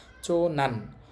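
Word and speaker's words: 長男: চো, চো মানে হচ্ছে বড়, আর এইটা দিয়ে তো পুরুষ বোঝায়, উচ্চারণ হবে এখানে নান। চো নান, বড় পুরুষ, সহজে বলতে পারি আমরা বড় ছেলে।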